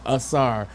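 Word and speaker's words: Ausar: you say it, I got it right there, Asar Thompson.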